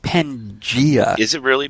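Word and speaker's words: Pangaea: But Pangea is the only correct pronunciation.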